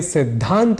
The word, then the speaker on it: सिद्धांत: बोल जाया करते हैं ऐसे ही हमें सिद्धांत बोलना चाहिए यानी सिद्धांत के द और ध के उच्चारण गत भेद को समझते हुए शुद्ध उच्चारण करना चाहिए लेकिन हम ऐसे ही